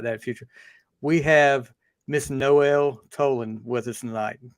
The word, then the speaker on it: Noelle: say it was no how'd you say it Noel uh-huh toland yep perfect that's me my last